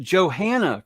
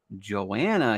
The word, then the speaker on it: Johanna: have someone on who i called johanna for the first year that i knew her before i actually knew how to say her name but we're gonna talk with the lovely joanna here coming up next